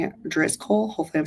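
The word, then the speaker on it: Driscoll: in this product at all also um uh dis Cole hopefully I'm saying it DZ coal hopefully I'm saying it correctly is d r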